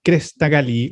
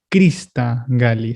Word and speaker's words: crista galli: concepto es tal cual del latín crista galli se escribe con y de hecho crista galli pero está bien viene